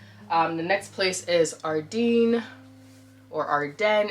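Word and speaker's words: Ardene: Um, the next place is Ardin or Arden. It's actually Arden, pronounced Arden, but majority of us in Toronto say Ardin.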